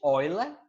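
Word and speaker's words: Euler: a escrita é essa então eu lá se inscreve eula mas a pronúncia é orla lilo nós vamos trabalhar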